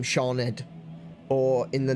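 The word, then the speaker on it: Siôn: SH does exist, but SI is also is often pronounced as sh, like in the name Shawned, or in the name Shan.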